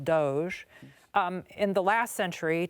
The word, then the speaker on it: DOGE: department of government efficiency which we have now learned is pronounced Doge um in the last